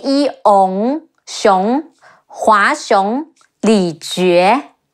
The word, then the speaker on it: Li Jue: Hua Xiong, He Wu A, Hua, Xi Yi Ong, Xiong, Hua Xiong, Li Jue, Le Yi Li, Ji Yu E, Jue, Li Jue, Guo Si, Ge Wu